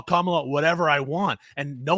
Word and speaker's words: Kamala: But the reason that we know that Nancy Mace is being a bigot is because she has been told, like, hey, it's pronounced Kamala Harris.